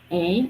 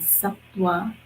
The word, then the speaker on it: Sattva: One is called Sattva, and I'll spell it for you in case you want to write it down. It's Sattva, and the V is pronounced like a W. So it's called Sattva.